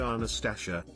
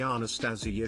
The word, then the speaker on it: Anastasia: NTA, my name is Anastasia and it's pronounced phonetically. My third grade teacher said Anastasia. When I told her it's actually Anastasia, she said her way of saying it was prettier.